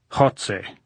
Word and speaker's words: Goltz: "How do you say Goltz in Spanish, Comrade General?" "Jotze," said Goltz, grinning, making the sound deep in his throat as though hawking with a bad cold.